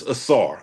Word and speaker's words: Asar: It's a SAR. A SAR. Okay. A SAR. Asar Thompson. Asar. Yeah, well, I don't even remember what I said earlier. It's Asar. I'm doubling and tripling down on Asar.